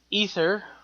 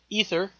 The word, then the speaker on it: Aether: Secondly, this new threat that was introduced in Thor the Dark World, the ether, pronounced ether spelled Ae T H E R if I'm not mistaken, uh is going to be a second one.